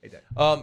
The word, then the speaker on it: Haydet: Haydet or Haydet? Do you pronounce it T? Haydet.